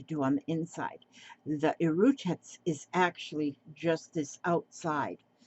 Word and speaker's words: E'rutats: It's called Erutats, Erutats. And like I say, it's stature spelled backwards, Stature, if you spell it backwards.